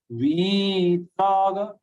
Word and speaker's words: वीतराग: First letter is dirgha. Vitaraga no. Vitaraga, you have to pronounce it with a long sound.